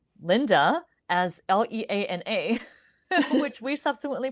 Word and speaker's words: Leana: Although the way that it's spelled, it's always mispronounced as Leanna.